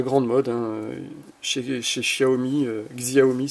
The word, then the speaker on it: Xiaomi: mode un chai xiaomi xiaomi si on prononce à la française eh ben il ya